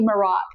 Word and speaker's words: Merach: We like Merax. It's m e r a c h. We kind of differ on how we pronounce it, but it might be Marax.